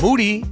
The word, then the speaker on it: Moody: Moody rhymes with duty.